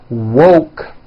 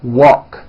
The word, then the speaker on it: woke: mispronounce these two words instead of saying woke when they say it it sounds like walk so instead of saying